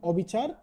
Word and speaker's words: অবিচার: আছে সেটি হচ্ছে নেতিবাচক নেতিবাচক বা না অর্থে অ বা অন এবং অসহায় বা সহিত অর্থে দন্তস যুক্ত হলে অ এর উচ্চারণ অবৃত্ত থাকে যেমন অনিকেত অবিচার অবিচার আশা করি বুঝতে পেরেছ